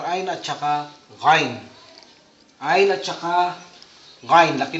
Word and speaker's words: Ghain: Lumalabas sa ilong ang ano nito. Para sa ngala-ngala siya, ngunit mayroon siyang exhale na lumalabas sa hangin sa ilong pag binibigkas na ito. Ghain. Okay? Ghain.